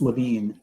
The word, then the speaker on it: LaVine: it's a complex name it's like tomato tomato but it's it's LaVine uh and um lots